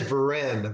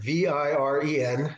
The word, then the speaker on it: Viren: The name is Viren, Viren. That's how it's spelled, and it's Viren.